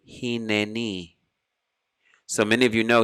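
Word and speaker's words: הִנֵּנִי: one has a shva, it's a shva na, as in the word hineni.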